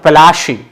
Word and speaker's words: Plassey: Okay, Plassey is an anglicized pronunciation of Palashi.